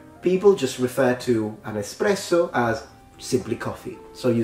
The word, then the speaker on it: espresso: the Italian culture but people tend to say this espresso so with an X there's no X so we pronounce it espresso espresso the funny thing is